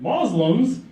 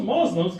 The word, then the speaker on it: Muslim: Because till today, every news outlet, Muslims, those Muslims, come on, man, just get this right. Muslim, it's not that hard. Muslim. 2 syllables, right? 2 syllables.